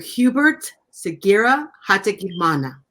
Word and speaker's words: Hubert Sugira Hategekimana: way from the beautiful nation of Rwanda Mr Hubert Segura hate Mana Hubert welcome to the show thank you very